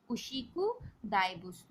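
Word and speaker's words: 牛久大仏: Okay, उशिकु दाइबुत्सु, this is the pronunciation of this word.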